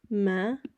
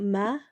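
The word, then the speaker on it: ਮੈਂ: examples we can do Ma again it's not ma it's Ma with a nasal sound at the end ma means I or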